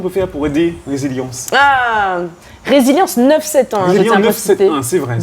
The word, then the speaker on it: Rézilyans: Le créole, tu ne prononces. Toutes les lettres se prononcent.